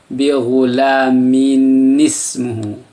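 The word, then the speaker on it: بِغُلَامٍ اسْمُهُ: juga berbaris sukun, maka tanwin itu diganti cara bacanya dengan baca nun, bacaan nun. Dia berubah fungsi seperti ada lambang nun tapi hanya suaranya saja. Bagaimana membacanya? Bi ghulamin ismuhu.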